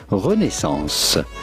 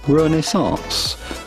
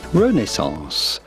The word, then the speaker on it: Renaissance: In French, the pronunciation would be Renaissance. Renaissance. But in English or American, it is usually pronounced Renaissance. Renaissance.